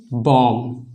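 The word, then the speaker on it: bomb: मतलब कि इस वर्ड में भी बी जो है एम के बाद आ रहा है, तो इसमें क्या हो जाएगा, बी साइलेंट हो जाएगा, तो इसका प्रोनाउंसिएशन नहीं किया जाएगा। तो इसका क्या हो जाएगा प्रोनाउंसिएशन, बॉम्ब। ठीक है, बॉम्ब नहीं बॉम्ब।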